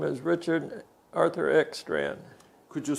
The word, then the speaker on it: Ekstrand: your name sir my name is richard arthur x strand could you spell it spell e k s t r